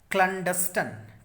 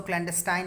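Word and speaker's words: clandestine: ये देखिए लिखा है ना, क्लैंडस्टन, क्लैंडस्टन, क्लैंडस्टन, क्लैंडस्टन, ठीक है, क्लैंडस्टन। इसको क्लैंडस्टाइन मत पढ़िएगा, है ना।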